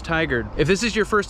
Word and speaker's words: Tigard: from tigard oregon today not tiggered not thai guard it's pronounced tiger if this is your